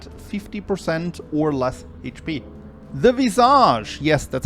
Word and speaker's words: Visage: The Visage, yes, that's how you pronounce that, are a heart and a mask bound together in phase 1 by a chain.